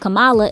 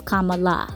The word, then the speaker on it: Kamala: good to know that her name is not pronounced kamala it's kamala back then he was the famous one and